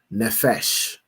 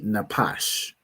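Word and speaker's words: נפש: Here, pronounce the word as nefesh, because the Jewish man pronounced his pa as a fa, as an F, because he's a fool, right? But this word would be napash, right?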